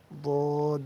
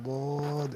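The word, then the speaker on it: ض: জিহ্বার গোড়ার কিনারা উপরের মাড়ির দাঁতের গোড়ার সঙ্গে লাগাইয়া বদ উচ্চারিত হয়, বদ।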